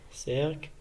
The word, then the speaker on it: cercle: Donc, on a E, exemple, place, I, exemple, cercle, et Y, exemple, bicyclette.